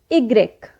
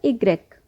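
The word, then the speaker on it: i grec: voyer so let's start vowel why in english but in french we pronounce it egreg now here are some examples for the next vowel igrec igrex sound is like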